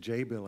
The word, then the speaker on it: Jabil: uh I actually as of yesterday I said jabil but actually it's Jael I believe right is the correct pronunciation that's correct and Matt comes from a